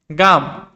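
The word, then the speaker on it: gum: গাম, জি এর পরে ইউ রয়েছে, সেজন্য এটার উচ্চারণ হয়েছে গাম।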